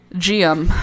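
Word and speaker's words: Geum: GM. Okay, thank you. GM rhymes with medium but with only two syllables.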